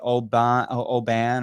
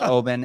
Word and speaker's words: Oban: made a comment I some people may say oh oh ban or yeah but I think it's pronounced Obin and but um horrible